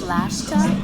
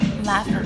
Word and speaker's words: laffa: It's lashta? Did I say it right? No. It's laffa wrap.